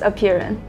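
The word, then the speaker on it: Aperion: And that team is, and I'm probably not going to say it right, a Perion. So the way you pronounce the name of our company is a Perion.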